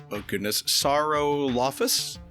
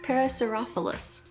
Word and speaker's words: Parasaurolophus: I can't pronounce the actual dinosaur name. It's a very long one. It's Saurolophus? Something like that? Parasaurolophus.